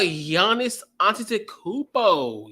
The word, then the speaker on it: Giannis Antetokounmpo: But so let's talk about Giannis Antetokounmpo.